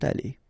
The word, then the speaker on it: allées: Same thing here, you don't pronounce it, but you need to write it. Okay, so let's read them. Il sera allé, elle sera allée, ils seront allés, elles seront allées.